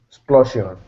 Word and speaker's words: explosion: Explosion. Say that one more time. Say it again. Explosion. Okay. Explosion. Correct. This is explosion. X. X is written phonetically KS. Explosion. That SI becomes a J.